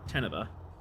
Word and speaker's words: Teneva: Depending on pronunciation. Stress on the first level. Teneva.